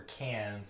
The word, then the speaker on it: Cannes: And last year, 2022, I think it was, they made a big deal for cans and somehow tried to incorporate... pronunciation is can.